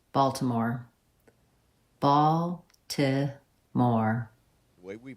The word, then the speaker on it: Baltimore: But if you're from Baltimore, you might say it more like Balmore. Whoa! Balmore. They might drop the... Yeah, they dropped the T.